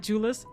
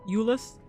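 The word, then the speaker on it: Jullus: Oh, Ulus. That's what his name is. Not Julis. Ulus. The J is silent apparently.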